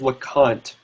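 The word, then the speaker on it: Lecomte: told me it was lant like like the it's it's spelled l e c o m te but he said it was like the M was like pronounced like an N so me on that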